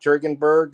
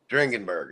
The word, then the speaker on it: Dringenberg: This is before Mike Jurgenberg of Sandman.